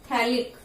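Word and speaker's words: phthalic: थैलिक, P silent होता है, थैलिक acid.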